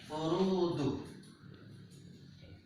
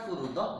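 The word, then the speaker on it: فُرُوضٌ: Maka cara membacanya adalah furudu. Furudu. Bukan furudoh, bukan furudi.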